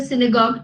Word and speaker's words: synagogue: Jews visit the synagogue to pray. To- Synagogue is their place of worship.